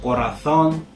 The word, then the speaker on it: corazón: In Spain, the Z and the C followed by an E or an I is actually pronounced with a lisp, or the TH sound in English. So corazón, hacer, but that's a very minor difference.